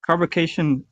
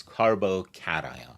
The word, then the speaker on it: carbocation: you know reacts first of all pronunciation is carboation uh oh yeah so that's A that's an extremely common mistake.